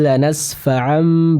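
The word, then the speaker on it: لنسفعا: Lanasfa'am huruf fa sempurnakan pengucapannya. Tadi yang saya dengar itu terbaca dengan pa ya. Jadi dengan huruf p ya. Mungkin karena logat Sunda mungkin ya. Jadi bisa disempurnakan. Jadi bukan lanasfa'am tapi lanasfa'a. Ya, lanasfa'an bukan lanasfa'a ya.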